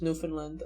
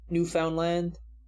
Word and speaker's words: Newfoundland: it ottawa canadians like me dies he also mispronounced newfoundland like a lot of other people it sounds like it sounds it's not hard newfoundland i mean from what i've seen it's mostly just pronounced like newfoundland i remember i have a video on that